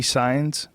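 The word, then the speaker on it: Saenz: thing you right who do you know Frankie signs s a e n z how do you pronounce it signs signs s SS SS it's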